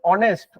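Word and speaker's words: honest: না আমরা কি বলি অনেস্ট অনেস্ট আমরা এই ও সাউন্ড থেকে উচ্চারণ করি অনেস্ট বলি অনেস্ট তাইতো তাহলে এখানে দেখো এইচ এর সাউন্ডটা সাইলেন্ট থাকছে মানে উচ্চারণ হচ্ছে না আমরা উচ্চারণ করছি না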